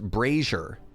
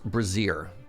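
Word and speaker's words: Brazier: that I have made it's pronounced braer not braier those are very different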